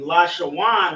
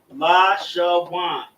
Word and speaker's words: Lashawan: The connectors serve as pronunciation markers. Where in Lashawan right here, we have a connector on the La, connector on the Sha, and then a connector on the Wa and Na, making it Wan.